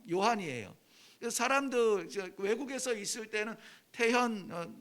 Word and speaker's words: 태현: 사람들 외국에서 있을 때는 태현, my name is 태현 하면은 정말 기분이 나쁠 만큼 이 표현을 이상하게 해요. 뭐 막 이러면은 발음이 안 돼서 그러는 건데 내가 기분이 나빠요.